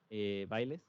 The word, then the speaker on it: Biles: Voy a pronunciar probablemente muy mal su apellido, pero según yo se pronuncia Bailes, tal cual.